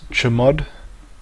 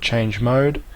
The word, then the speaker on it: chmod: and is spelled chmod it is quite often pronounced as chamod however you can simply call it change mode as it is more intuitive to do so